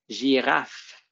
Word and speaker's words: girafe: Donc, à la fin du mot, girafe, on va voir que le son à la fin des mots, ça s'écrit rarement juste avec un F. Souvent, il va y avoir un E à côté. C'est un E muet.